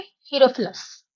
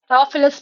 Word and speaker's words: हीरोफिलस: और जो father of anatomy है उनका नाम है हीरोफिलस। राफिलस भी बोल सकते हैं। ठीक है, डिफरेंट डिफरेंट प्रोनाउंसिएशन है।